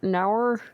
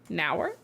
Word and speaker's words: Nour: N O U R Ner. Oh, nourish. Well, it's like I think it's like for nourish.